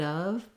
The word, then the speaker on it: of: sound accurately and then your of is another vowel and a v sound so the word of is actually a schwa and a v um even so